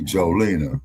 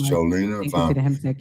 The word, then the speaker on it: Jolina: Miss says I you can call me Jolina. Okay. Miss Jolina saying it correctly. Thank you, Miss Jolene.